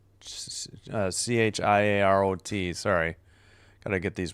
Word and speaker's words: Chiarot: That's Chiaro. Chiarot. Sorry. Got to get these pronunciations down.